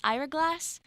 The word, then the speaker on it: Ira Glass: I loved by and I think I pronounce his name wrong eye ear a glass Ira Glass yeah and it's about